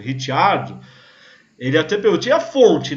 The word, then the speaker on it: Ricciardo: Pra quem gosta que quando eu falo Ricciardo, que normalmente o pessoal me corrige, é Ricardo. Eu falo, né? Como descendente italiano, eu me recuso a falar Ricardo, é Ricciardo.